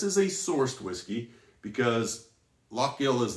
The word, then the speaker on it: Lough Gill: and the distillery is lock gill and it looks like low gill i know but it is lock gill believe me i mispronounced